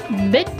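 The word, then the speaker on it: Bích: One of them's pronounced bit like bit T. You would say it like bit.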